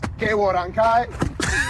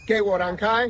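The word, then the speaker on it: 给我让开: Say it like this. Ge wo ran kai. One more time. Ge wo ran kai.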